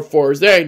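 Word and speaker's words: Fourze: that came after O's, Kamen Rider 4's. Or 4Z, depending on how you pronounce it.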